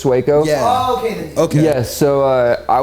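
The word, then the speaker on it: Sueco: It's spelled Suo, but yeah, his name's Suco.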